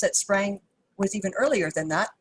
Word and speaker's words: sprang: In the late 1800s, textile specialists began using a Scandinavian word that seemed to cover it, and the English pronunciation of that word is Sprang.